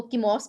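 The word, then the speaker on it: Chemos: कैसे करते हैं के या तो वो इसको कीमोस भी पढ़ सकते हैं और इसको चिमो भी पढ़ सकते हैं मोस्ट जो मोस्टली इसको प्रोनाउंस किया गया है वो चिमो के नाम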